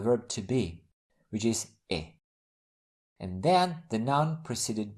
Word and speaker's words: est: The pronunciation of the verb to be in the third person singular is e. But when followed by the indefinite article the t is pronounced because of leazison.